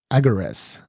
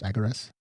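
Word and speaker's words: Agares: natural 20 so um he went by uh agaras I think that's how you pronounce it AG g a r s I don't think it's AAR agaras that's how I was saying it a g a r e s MH so yeah he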